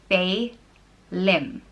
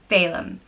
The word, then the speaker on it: Phelim: The next name is Salem, and it means beauty or ever good, and it's pronounced Fe-lim, Phelim.